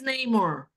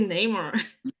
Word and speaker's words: Namor: I always thought it was like Namor. It is Namor. It is actually Namor.